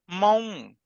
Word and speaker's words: Hmong: Next letter, H and M, haw and maw combine, maw, mong.